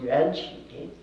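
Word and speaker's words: 缘起: In Mandarin Chinese it would be pronounced yuanqi.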